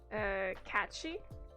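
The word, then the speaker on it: Cat Sìth: Sith is pronounced she, by the way. Catchy.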